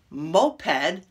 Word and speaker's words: moped: either wound or wound d can be either moped you know the little motorbike a moped or